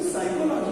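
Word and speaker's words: psychology: अभी साइकोलॉजी को हम कैसे करेंगे, देखिए यदि आप साइकोलॉजी को देखेंगे तो पी तो हम प्रोनाउंस ही नहीं कर रहे हैं, इससे हम पी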